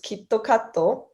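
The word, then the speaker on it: キットカット: another thing is that kitkat when you say it in japanese it's kitokato which sounds very similar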